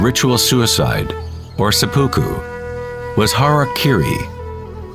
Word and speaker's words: harakiri: suicide or seppuku was harakiri was often mispronounced as harry kerry it means to